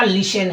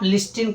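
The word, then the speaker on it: listen: तो फ्रेंड्स सही पे जाओगे तो सही आपका लिसन है। ठीक है? गलत पे जाओगे। गलत कौन है? तो आप लिस्टिन कहोगे तो बिल्कुल गलत कहोगे। ठीक है? अब क्योंकि यहां पर टी क्या है? साइलेंट हो रहा है। टी क्या हो जा रहा है? साइलेंट हो जा रहा है। उसका साउंड नहीं आता है।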